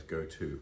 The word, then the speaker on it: goatee: the goatee beard, or the goatee as Americans call it, pronouncing it rather like the phrase go-to.